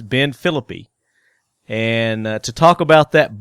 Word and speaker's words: Philippi: Not Felipe, which I mispronounce it, but it's Ben Philippi.